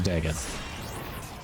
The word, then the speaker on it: Dagath: Dagath, actually. We learned the actual pronunciation is Dagath.